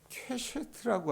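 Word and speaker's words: קשת: 설명이 있었냐면 무지개가 여러분 히브리 말로 케쉐트라고 하는이 발음을 갖고 있는 단어래요. 이게 어떤 뜻이냐면 본질적으로 여러분 무지개는 하나님께서 물로 세상을 심판하셨을 하시고 나서 어떻게 하냐면 그 무지개는 본질 퀘셔트라고 하는 말이 어떤 뜻이냐면 활소는 활 있죠.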